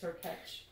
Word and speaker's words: Hurkacz: I've heard a commentator say, I know someone told us Hurkacz, but I've heard a commentator say Hurkacz, and I checked the pronunciation. It's Hurkacz.